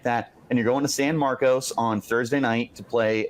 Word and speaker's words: San Marcos: and you're going to San Marcos on Thursday night to play a very quality Texas State Lev do it correct him level how do you pronounce it it's San Marcus and this is the